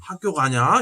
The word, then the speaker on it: 학교: 학교를 뭐라 해? 핵교 아닙니까? 핵교. 그래. 예. 학교 가냐? 야야 학교 가냐? 예. 이러지. 예. 학교 가냐? 이렇게 안 한다고.